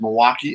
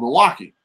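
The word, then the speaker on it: Milwaukie: the end it's uh it's pronounced the same way but the spelling is different so I'm obviously gonna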